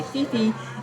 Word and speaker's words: Phi Phi: It's spelled Phiphi. A lot of people say Phi Phi. It's actually Phi Phi.